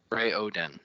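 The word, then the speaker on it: Raoden: Is it is it like rayaden all at once or is it ray Odin? This has it as capital R a Y-hen. Ray Oden. Ray Oden. Ray Oden. Three syllables.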